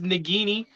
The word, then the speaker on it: Nagini: about that noise um now it is nagini um that's that's how it's pronounced and I think that's